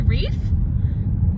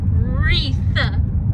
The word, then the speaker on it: wreath: comment in there about how i say reef but you guys are saying it's wreath we've always pronounced we've i know how it's spell obviously it's different than but i've always said reef but now knowing that you guys point it out it's wreath right wreath yep so anyways i just